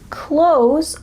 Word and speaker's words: clothes: Instead, when we speak in fast English, we often pronounce close a lot like close the door.